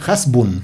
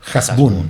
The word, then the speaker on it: Hasbún: no es hasbun, es asbun. Y luego me enteré que como es de origen árabe, exactamente, en el idioma árabe la H se pronuncia como J, por lo tanto es jasbun.